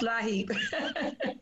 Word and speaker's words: LIHEAP: It's pronounced LIHEAP.